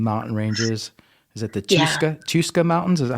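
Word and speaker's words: Chuska: middle of some mountain ranges is it the tuska mountains is that how you say it cusca yeah yeah that's right I know that I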